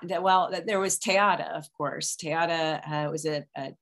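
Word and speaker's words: Te Ata: think of i'm not that well there was tayata of course tayata was a chickasaw performer she was a storyteller and the chickasaw nation has just put out a film about her um it is spelled t-e-a-t-a tayata and i think what's interesting is that tayata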